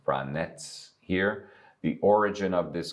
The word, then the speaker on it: Vranec: Now, as I told you, the name is pronounced Vranec here. The origin of this grape, Vranac, is Montenegro, and it's a natural crossing.